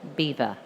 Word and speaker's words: Belvoir: hill and they said Belvoir beautiful view so as we know we're very bad at pronouncing French so over the generations it's been bastardized to Beaver which is quite difficult